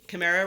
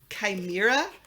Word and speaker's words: chimera: And another thing I recently learned is that I pronounce chimera wrong, and it's apparently chimera. Okay, so of all the things I would have guessed, it was not chimera.